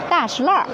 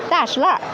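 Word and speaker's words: 大栅栏: am the native Beijing nurse I call it dashl so according to the pronunciation we have we can recognize if uh this person is the local people or from the other provinces.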